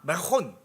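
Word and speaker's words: חרמון: 메론산이라고 가는데 M 가운데 알자가 들어가잖요. 알도 얘는 후으로 발음을 해요. 그래서 메론산에 어떻게 갑니까? 아 메혼 이래요. 매혼. R알이 그냥 우리 굴리는 R이 아니 걔네는 흐발음을 쓰는 거예요.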